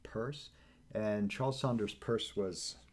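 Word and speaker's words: Peirce: uh and his name people often mispronounce it as Pierce it's pronounced purse and Charles Saunders purse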